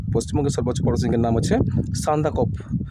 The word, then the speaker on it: সান্দাকফু: সর্বোচ্চ পরশৃংের নাম হচ্ছে সান্দাকফ সান্দাকফু হবে সান্দাকফু অর্থাৎটা এভাবে লিখবে দন্তস আকার দন্তনে দ আকার কয় হসন্ত আর ভয়সু তাহলে উচ্চারণটা কি হল সান্দাকফু সান্দাকপু হসন্ত এখানে আছে